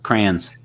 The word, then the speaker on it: crayons: going to be crazy we do it differently we give it one syllable crayons okay so i'm gonna